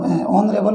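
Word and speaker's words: honorable: दोनों ही जगह H silent है, और एच साइलेंट होने की वजह से चाहे आपका ऑनेस्ट हो चाहे ऑनरेबल हो, दोनों में एच साइलेंट होने की वजह से यूज़ किया गया ए एन का।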